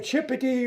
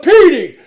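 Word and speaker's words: Cipiti: And I'm looking down, my heart's pounding, and the professor mispronounced her name. He called her Chippity or Chippetai or something like that, and she jumps up. It's Petey, C-I-P-I-T-I.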